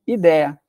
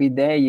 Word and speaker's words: ideia: No inglês é idea, aí surge na língua portuguesa como ideia. Só que daí a gente começou a colocar aquele sonzinho do i semivocálico, ideia, ideia, ideia, e aí surge o ideia com acento.